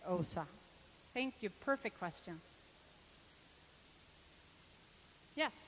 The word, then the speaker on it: Åsa: And my parents just looked at me and said, "Her name is Osa."